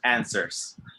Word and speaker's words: answers: for everybody and cersei the w is silent answers answers this is a